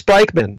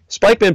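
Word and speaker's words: Spykman: During World War II, the Yale geopolitical scholar Nicholas Spikeman, surname spelled like spy, S-P-Y-K-M-A-N, Spikeman pointed out that the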